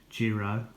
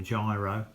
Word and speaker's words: Jiro: that are left from my uh Jiro or Gyro depending on how you pronounce it this is a